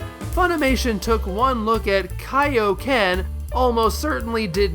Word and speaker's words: Kaio-ken: took one look at Kaio-ken, almost certainly did not make the connection as to what it meant, and decided it was pronounced “kay-oh ken.”